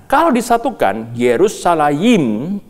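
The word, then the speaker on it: ירושלים: However, brothers and sisters, from a linguistic point of view, the word Jerusalem in Hebrew is pronounced like this: ‘ "Yerushalayim’, which is made up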